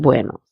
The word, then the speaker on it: buenos: The first word has to be pronounced very nicely and with a round mouth, buenos, instead of saying buenos.